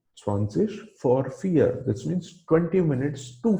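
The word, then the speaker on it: vor: for the v is v is pronounced as f in german so it is swansish for fear swanseas for fear which means 20 minutes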